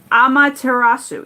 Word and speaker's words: Amaterasu: How to pronounce her name. Amaterasu.